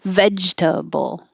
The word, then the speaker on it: vegetable: in important importance importance we drop the middle e and just make it two syllables i mean three syllables vegetable you can make it two syllables if you use the nickname veggies vegetable this you will hear